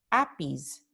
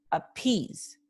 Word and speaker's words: appease: Y la vocal acentuada es I, porque nosotros no decimos appease, decimos appease. Entonces, I, appease, esta es la vocal que tiene un acento o un estrés articulatorio.